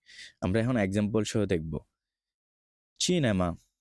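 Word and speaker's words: cinema: এখন এক্সাম্পল সহ দেখবো চিনেমা চি এর পরে ই আসছে এজন্য হচ্ছে চিনেমা জি এর বেলায় যদি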